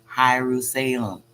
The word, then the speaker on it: Hierusalem: salem this is jerusalem but they're pronouncing it hyrus salem u s h-i-e-r-u-s-a l e m but it's jerusalem which is the mist